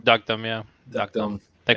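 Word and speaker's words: Deokdam: Duckdom, yeah.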